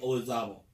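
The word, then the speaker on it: Olazábal: Jose Marie Olazabal.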